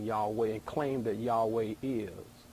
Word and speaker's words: Yahweh: divine name basically right the tetragrammaton from what we know would have been pronounced something much more like Yahweh than any of the other names you hear maybe you could say yave you know I guess